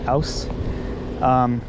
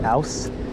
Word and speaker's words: aus: and with Christian, and Christian often will say ouse, because it's easier for Christian to say for some reason. But I will often say out, which I think is actually an incorrect pronunciation.